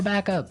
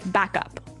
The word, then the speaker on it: backup: important hey yes yes you have to say backup Backup backup yeah so both words are stressed at about the same level hey mhm backup cuz